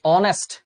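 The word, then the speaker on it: honest: মতই হচ্ছে হিস্টরি আচ্ছা কিন্তু আমি যখন বলতেছি অনেস্ট অনেস্ট বলতেছি না কি বলতে অনেস্ট তাহলে এইচ এর উচ্চারণ এইচ এর মত হয়েছে নাকি অ এর মত হয়েছে?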